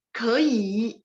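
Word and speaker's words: 给: Ke bacanya K, tapi tulisnya G. Ya, tinggal kasih nada Ike nada 4. Lanjut, kei, I-nya nada 3.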